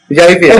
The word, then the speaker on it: Javier: They don't pronounce the J in Spain. Javier. It's an H. Yeah, it's like a silent J.